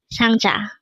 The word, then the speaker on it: 상자: It is pronounced as a two-syllable word. The first syllable is sang, second syllable is ja.